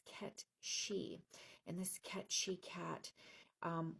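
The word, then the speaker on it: Cat Sìth: And it's it looks like it's spelled like cat Sith, but it's K she.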